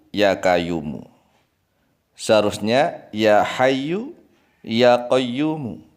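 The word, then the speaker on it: يا قيوم: Seharusnya ya hayyu, ya qayyumu. Ya hayyu, ya qayyumu. Tetapi dia salah ucap. Ya kayuku, ya kayumu.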